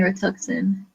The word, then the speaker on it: Rituxan: So like I was saying, despite being asked this question a lot, I'm just looking to see, starting Rituxan. So I am pronouncing it right.